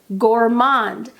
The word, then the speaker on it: Gourmand: I want to clarify I am pronouncing Gourmand in French because that is a French word it's in French I like to respect